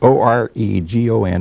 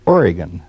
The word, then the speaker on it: Oregon: and teach you and some other Easterners that O-R-E-G-O-N is pronounced Oregon, not Oregon.